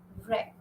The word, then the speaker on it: wreck: the end W silent wreck P Snow rap show so you see W is silent in all these words and we have covered